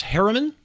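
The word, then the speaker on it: Herriman: And is it pronounced Harriman?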